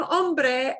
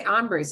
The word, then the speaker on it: hombre: They say hombres and they mispronounce it. Hombre is hombre, man.